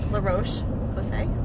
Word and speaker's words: La Roche-Posay: Is that how you say it? La Roche-Posay? Yeah.